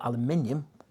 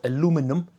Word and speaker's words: aluminium: Basically what that means is that it can weld metal and also aluminium, or aluminum, like the Americans say.